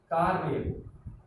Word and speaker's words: कार्य: उसी तरह कार्य वाले में पहले हमने का उच्चारण किया, का, क में किसकी मात्रा है, आ की मात्रा है, तो का। फिर हमने र पढ़ा, फिर य पे आए।